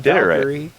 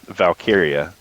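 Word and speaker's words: Valkyria: It's not Valkyrie. Valkyia. Valkyia. It's not Valkyrie. It should be Valkyrie, but it's No, it's Tia Valkyrie, not Lyra Valkyia.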